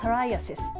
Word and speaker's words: psoriasis: れども、発音はサライアセスというふうに言う、これは